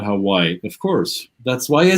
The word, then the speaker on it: Hawaii: it was appreciated that i pronounced words as the locals too hawaii and not hawaii of course that's why